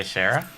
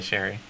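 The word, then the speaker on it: Cherryh: that series that's uh i think that's cj shara let me double check that no no i've said it out loud i'm a little worried that i said it wrong oh no it is cj sherry i don't know if it's shara sherry it's c-h-e-r-r-y-h but she is a great um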